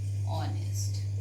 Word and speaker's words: honest: We pronounce, children, honest. H is silent here, and children, silent, that means H is not pronounced.